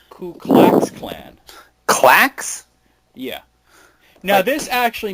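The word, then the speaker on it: Ku Klux Klan: Ku Klux Clan. Apparently, you're supposed to say K Clax Clan.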